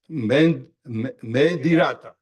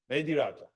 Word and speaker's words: Mehndiratta: Shomik, and I think it's Mehdirata. Mehdirata. Am I pronouncing H or no? Mehdirata. Mehdirata.